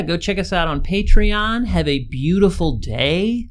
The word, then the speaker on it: Patreon: that we have a Patreon now, and it's very exciting. I just pronounced it Patreon, but it's actually Patreon.